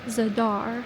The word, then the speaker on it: Zadar: this is future Haley and yes it's actually pronounced zadar for some reason since I was in the